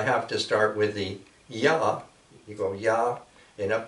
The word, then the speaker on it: Ya: So that's Ya. You spell it I-A or Y-A. That's Ya. And when you go up to the top, there's a letter there that looks like a C.